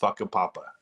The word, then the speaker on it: Whakapapa: But the actual pronunciation is Whakapapa. And if you go to their homepage or their Wikipedia page, it says on the Wikipedia page, it makes sure that you know that the correct pronunciation is Whakapapa.